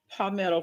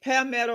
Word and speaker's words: Palmetto: So you are a product of Palmetto, Florida. Yes, ma'am. So am I saying it right? Is it Palmetto or Palmetto?